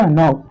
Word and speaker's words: knock: क्या देखना है कि अगर यन से पहले कहीं आपको के दिख जाए तो उसको आप नहीं पढ़ोगे। ठीक है, यानी के को आपको नहीं बोलना है, बाकी आपको बोल देना है।